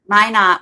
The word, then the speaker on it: Minot: I can't even pronounce the name of the town, Lauren. Minot.